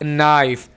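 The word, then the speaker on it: knife: This is a sharp नाइफ, के को silent रखें।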